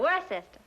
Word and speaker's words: Worcester: But it's spelled W-O-R-C-E-S-T-E-R. Worcester. Oh, yes, I see, yes.